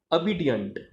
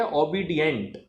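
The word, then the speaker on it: obedient: अब देखिए मैंने मनीषा के लिए क्या वर्ड यूज किया, अबिडियंट। तो लोग इसे बोलते हैं ओबीडियंट। इसकी जो प्रोनाउंसिएशन है वो ओ नहीं है, वो अ है। और फिर डियंट, डेंट नहीं।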